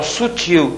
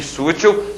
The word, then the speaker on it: sutil: colocação do assento tônico então Sutil e sútil são palavras distintas não se trata aqui de palavras de dupla prosódia Tá ok vamos passar